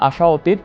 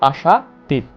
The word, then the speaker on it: আশাতীত: এরপরে আর উদাহরণ দিতে পারি আশাতীত, আমরা আশা অতীত, আমরা উচ্চারণ করি না আশা অতীত, উচ্চারণ করি না, আমরা করি ধ্বনির মাধুর্যের কারণে আমরা উচ্চারণ করি আশাতীত।